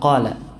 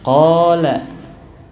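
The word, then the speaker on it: قال: Kalau Arab fusah bacanya kayak gitu. Qala. Gitu gak? Enggak ya. Yang membaca mad seperti itu adalah orang ajam.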